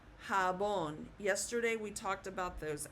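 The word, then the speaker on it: jabón: So J will sound like an H.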